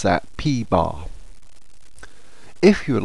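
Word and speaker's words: p̄: the top P with a bar and we pronounce that P bar if you would like to pause the video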